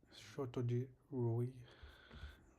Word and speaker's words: Satyajit Ray: Okay, so the correct pronunciation is Shotoji Roy.